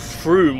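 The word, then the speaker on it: Frome: broom I don't understand why it's called Froome when it's spelled f-r-o-m-e that's from yeah gluten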